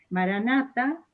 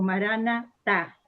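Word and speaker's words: Maranatha: Puede ser Maranata o Maranatá, ¿no? Si es Maranata significa ven Señor, pero si es Maranatá es el Señor viene, ¿no?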